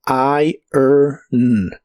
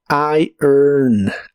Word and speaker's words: iron: de inglés es irn cuidado con el orden de los sonidos de esta palabra porque no son igual a como están escritos no se pronuncia la o pero primero se pronuncia I después er con un sonido muy suave de e y luego el sonido n de la n debe sonar como I earn I earn ir en